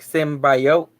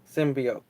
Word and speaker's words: symbiotes: a trailer there like Simba yoke I was like no no no no no Tony you gotta change this how to pronounce Anna it should be symbiotes not standby ups and they did their